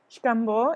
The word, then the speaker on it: Xcambo: In Mayan, the X is pronounced as an SH. Xcambo is a very small archaeological site about 20 minutes from Telchac Pueblo, where my parents are from.